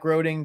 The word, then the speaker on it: Groening: a few signed Matt Groening books, and we Grading. Groening. You know, I'm That's why I gonna don't stop pronouncing words. Rhymes with complaining.